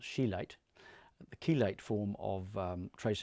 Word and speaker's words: chelate: But the chelate form of, pronounced chelate, the chelate form of trace elements is the one that does work particularly well.